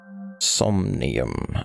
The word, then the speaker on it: Somnium: in somnium is different than the real world some Neum okay that's how you pronounce it this could be useful you can